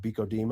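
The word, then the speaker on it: BCO-DMO: Our acronym is just pronounced BCODMO.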